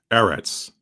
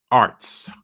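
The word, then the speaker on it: ארץ: If you get rid of the nikud and you just pronounce that in that Paleo Hebrew style, that would be arts.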